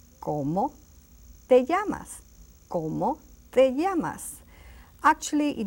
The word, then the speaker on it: ¿Cómo te llamas?: Now, to say it really in good Spanish, you say, ¿Cómo te llamas? You see the intonation. ¿Cómo te llamas?